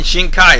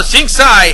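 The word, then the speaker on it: Xingcai: yeah I did mention shink Kai is back well shingai actually that's for how she's pronounced her named singai her Shield much like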